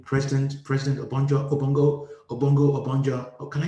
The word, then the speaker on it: Obonjo: So it's a racist term, Obongo, rather than Obonjo. And it took them a while before they could pronounce my name properly.